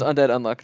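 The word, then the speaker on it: Undead Unluck: undead x unlock but you don't pronounce the x because everything is hunter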